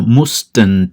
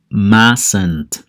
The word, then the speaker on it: mustn't: y está en ti yo no digo mustang te digo más santo repito son mi más